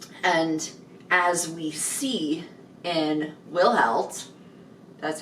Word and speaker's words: Wilhelt: And as we see in Wilhelt, that's how you actually say his name?